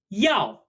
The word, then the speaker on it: 要: been straightened out though this character is pronounced yo-yo yeah like in the Flintstones yeah this character means